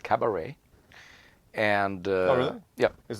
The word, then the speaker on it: cabaret: Oh, it's something to do with our cabaret of the musical number type stuff.